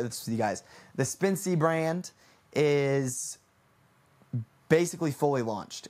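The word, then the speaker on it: Spensea: It is, it's Spincy, Spence, and then C. You guys get it? You guys get it, right? Right? Spin, like Spincy, but it's spelled S-P-E-N-S-E-A.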